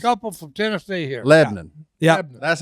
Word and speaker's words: Lebanon: Lebanon.